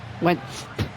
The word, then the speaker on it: Wentz: Actually, no, it's not silent. It's just it's you don't pronounce it that hard.